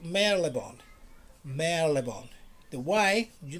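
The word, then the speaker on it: Marylebone: houston houston station how we don't have to pronounce it we don't have to say mary lebone no mary lebone never remember that i told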